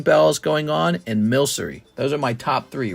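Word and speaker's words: Milcery: Oh, how to pronounce Milkree. Hold on. Milsy. It's Milsery.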